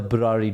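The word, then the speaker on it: Burari: check it out the burrary death it's it like it rhymes with Ferrari but it's the brari death on Netflix not on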